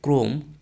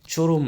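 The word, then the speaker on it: chrome: যেমন আমরা বলি সিএস আর ও এম ই, এটা ক্রম, চরম নয়।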